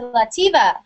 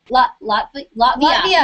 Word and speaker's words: Latvia: So, Brunette Lena, please shout out to Lativa. Is that how, is that how you say it? Latvia.